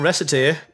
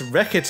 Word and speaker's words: Recette: it's that well no it's not recite it's wreck it here um i mispronounce